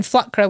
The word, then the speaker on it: flükra: And then Flkra, which is how it would be pronounced in Shetland, means large flurries of snowflakes.